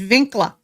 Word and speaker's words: Winkler: And if you say it correctly, it's Winkla.